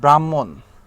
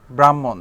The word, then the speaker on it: ব্রাহ্মণ: এই এরপরে যেমন দেখেন ব্রাহ্মণ, ব্রাহ্মণ এটাও ইম্পর্টেন্ট, এটা পরীক্ষায় আসে মাঝে মাঝে। ব্রাহ্মণের এই যুক্ত বর্ণটা হয় হ এবং ম মিলে, ব্রাহ্মণ, ব্রাহ্মণ, ঠিক আছে, হ, এই যে ব্রাহ্মণ উচ্চারণের সময় হ চলে আসে, তারপরে ম, এই জন্য হ এবং ম।